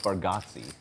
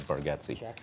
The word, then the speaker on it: Bargatze: It's spelled like Bargatze, but they pronounce it for some reason reason Bargatze. Yeah, Nate Bargatze was pretty good.